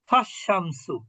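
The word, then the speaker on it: فَالشَّمْسُ: আশ-শামসু, এর পূর্বে যদি ফা যুক্ত হয় তাহলে আমরা কি বলি? ফাশ-শামসু।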